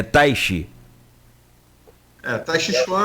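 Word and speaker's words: Teich: A pronúncia se falou como é que é, Cláudia? Tati. Taish. Até quem me ensinou foi minha esposa de Taish Chuan. Não tem nada a ver uma coisa com a outra, mas é a pronúncia parecida. É Taishi.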